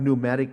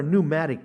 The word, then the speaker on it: pneumatic: Do any of you have pneumatic tools? What are pneumatic tools? And why in the world does the word pneumatic in English start with a P that we don't pronounce?